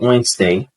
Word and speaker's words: Wednesday: Now, when you look at Wednesday, people will say it's 3 syllables, whereas that word has 2 syllables.